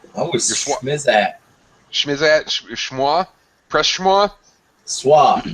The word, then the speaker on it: SWA: Swa. SWA. 3 letters. 1 syllable.